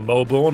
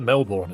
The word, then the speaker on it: Melbourne: I'm sorry, but if you have a B-O-U-R-N in the name, it's pronounced born in the UK.